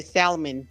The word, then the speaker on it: salmon: And I can't stand also, it's not plurals, but I hate when people say salmon. It's not fucking salmon. The L is silent.